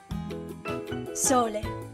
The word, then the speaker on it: sole: Or it can be closed and be pronounced like the O in the English word or. O. Sole, sole.